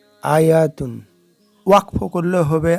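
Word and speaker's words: آية: আয়াতুন ওয়াকফ করলে হবে আয়াহ।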